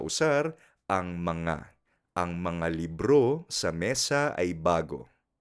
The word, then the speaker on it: libro: Ten en cuenta que la pronunciación de libro en filipino es libro. Libro. El acento en la última sílaba.